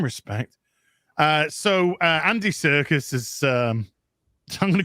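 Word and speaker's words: Serkis: you pronounce it I I thought it was circus isn't it it's like Circus Circus uh but I'm going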